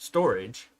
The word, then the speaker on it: Storj: But yeah, Storj, pronounced storage, is an open source cloud storage platform.